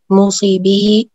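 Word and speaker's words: موصیٰ بہ: موسی، موسی لہو، موسی بھی اور صیغہ۔ ہاں ٹھیک ہے، اس کا صحیح تلفظ جو ہے موسیٰ لہو، موسیٰ بھی ہے۔ موسی وصیت کرنے والا، ٹھیک ہے۔ موسیٰ لہو کون ہے؟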